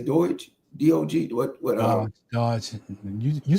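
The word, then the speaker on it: DOGE: Dodge.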